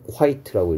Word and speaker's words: quite: 읽기는 quite라고 읽는다 했으면 quite. 얘는 quite라고 읽고 quiet의 뜻은 뭐하고 같다라고 했었냐면 pretty하고 같다고 선생님 여러 번 얘기했고 선생님 pretty 그럼 얘가 예쁜이란 뜻입니까?